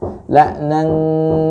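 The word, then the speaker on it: لَعْنًا: La'nan seperti itu. Ya, la'nan kabira. Jadi tarik. Ya, ke huruf kaf lebih banyak. Maka bunyinya akan seperti eng, walaupun tidak ada bunyi ang.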